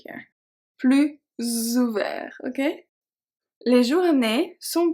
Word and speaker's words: plus: So technically those 2 are pronounced plus, but because of the O of ouvert and the A of agréable, we are going to pronounce it as a Z sound.